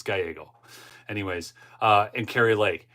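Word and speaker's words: Gallego: and krie Lake okay I like to call him Ruben Galo just to tick people off but I'll I'll say it right it's gyo anyways uh and Cary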